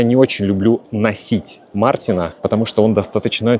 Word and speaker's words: носить: Мы пишем букву О – носить, но произносим, конечно, носить.